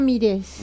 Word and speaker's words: Mires: ¿Mires o Mires? Mires, con acento en la E.